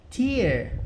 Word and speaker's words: tear: Lembra que eu falei que tear pode ser lágrima? É isso que eu queria mostrar aqui para vocês no dicionário. A pronúncia é diferente. Tear. Tá vendo?